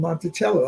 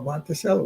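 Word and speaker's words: Monticello: a a master plantation called Montichello or Monttoello, whichever you want to pronounce it.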